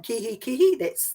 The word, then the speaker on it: Kihikihi: and Kihikihi subdivision of the Awamutu, is it Kihikihi Community Board? Yeah, you did pretty well. So Awamutu and Kihikihi, that's right on the money.